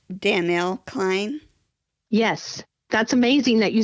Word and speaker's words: Danell Cline: nervous too I want to make sure I pronounce your name correctly it's Danielle Klein yes that's amazing that you said it right